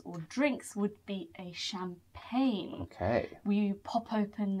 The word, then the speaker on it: champagne: Champagne. Don't be fooled by the G in there. The G is not pronounced. So it's called champagne.